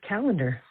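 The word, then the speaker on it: Callander: Um, you're over complicating it, Mike. It's just calendar.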